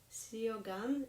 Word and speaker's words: Suo Gân: Welsh harpist, hello, and she told me that actually the U in the Suo Gân should be pronounced in this word as I, not you. And that's something that I'm definitely not used to, so it should be something like Suo Gân.